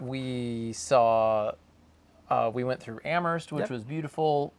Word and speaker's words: Amherst: We saw, we went through Amherst, which was beautiful. Pronounce it correctly. Look at that. Jack, you can move here now because now you can pronounce Amherst correctly.